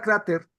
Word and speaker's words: cráter: Tú escribes la palabra cráter, fíjate, la palabra cráter, evidentemente es grave, tiene el acento en la penúltima sílaba.